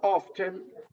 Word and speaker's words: often: Por el contrario, la palabra often, muchos norteamericanos tienden a omitir la T como cosa rara. Pero si tú pronuncias often o afternoon, el norteamericano dice afternoon, dice afternoon. Se come la T.